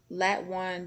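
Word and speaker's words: Latwon: the other was named lat one johnson and that one's name is spelled l-a-t-w-o-n so i pronounced it lat one how does that sound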